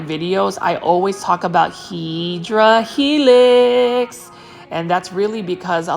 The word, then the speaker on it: Hedera helix: the correct way to say it obviously is Hedera helix, which is an English ivy. So for those that are viewing my um my channel for the first time for my videos, I always talk about Hedera helix.